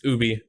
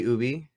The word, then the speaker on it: Ubi: It's Ubi. Yeah. Is it really Ubi? Yeah, well, it's like hell, dude. It's French. So Ubisoft is actually French. So the way it's pronounced is a little weird, but yeah.